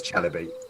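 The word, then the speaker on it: chalybeate: It's Chalibate.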